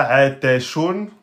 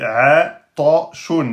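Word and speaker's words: عطشان: Attention, la lettre Ta est une lettre emphatique. Donc on la prononce de façon grave. Donc on ne doit pas dire Ate. C'est pas Atashun. Parce que là vous avez prononcé Ta au lieu de Ta. Donc c'est Atashun. Atashun.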